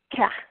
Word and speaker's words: Kej: So today is one deer, which in Quiche would be Hun Keh, and that Keh is spelled K-E-J.